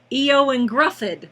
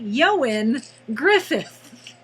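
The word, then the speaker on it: Ioan Gruffudd: If you look at his name and you don't know any better, it looks like Eoin Gruffydd, but it's Welsh, and therefore it's pronounced apparently Eoin Griffith, which I can't wrap my head around.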